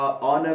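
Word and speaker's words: honour: इसके बावजूद भी एच कई दफा प्रोनाउंस भी नहीं होता। मिसाल के तौर पर ऑनेस्ट में हुआ, ऑनर में हुआ, एयर में हुआ, इन अल्फाज में एच प्रोनाउंस भी नहीं होता।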